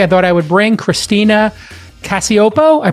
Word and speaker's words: Christina Cacioppo: I thought I would bring Christina Cacioppo. I pronounced it correct.